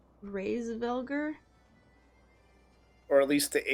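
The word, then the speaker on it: Hraesvelgr: say it praise vulgar the h is silent reyes vilger or at least the h or taja praise vilger phrase foreign yes i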